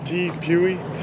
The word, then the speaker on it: Tepui: How do you pronounce that? Tepui.